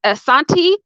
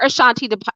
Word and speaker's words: Asante: a queen in both the asante or ashanti depending on how you want to pronounce it and in the akan